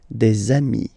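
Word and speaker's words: des amis: got dei okay and if you make the the leazison so the link between the two you will get desami okay dei So ami remember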